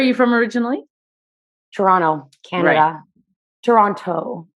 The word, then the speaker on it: Toronto: from originally toronto canada toronto i get my grandma gets really mad at me when i don't pronounce the t's but no one from toronto actually says it though so yeah and